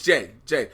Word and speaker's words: Jai: I thought it was Jay. It's Jai? Jay? Michael J. White. Oh, yeah, it's Jay. That's because I just said Jai Courtney. Oh. Michael J. White, Jai Courtney. They both were spelled the same way.